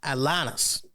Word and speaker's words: Atlantis: faced you know uh atanas you got to say it like that you got to say it with a nice little little twist little twang to it there right when he